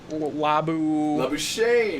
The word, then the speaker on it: Labuschagne: Labuschagne. Labuschagne. Okay. Say it, man. Labuschagne. I like the real pronunciation better.